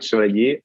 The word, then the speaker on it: Chevalier: i'm talking to yes exactly so it's schwarze i know it's french so it's a bit hard to pronounce um i'm actually german and i have